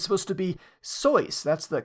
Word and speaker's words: Seuss: another one Dr Seuss beloved children's author everyone pronounces his last name Seuss but it's supposed to be so that's the correct pronunciation people probably look at